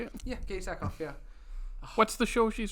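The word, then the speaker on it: Katee Sackhoff: Yeah, Katie Sackhoff.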